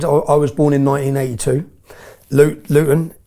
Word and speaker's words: Luton: Luton. Luton. We don't pronounce our T's in Luton, but Luton is 30 mi north of London.